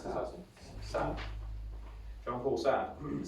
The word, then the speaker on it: Sartre: How do we pronounce this? Sartre.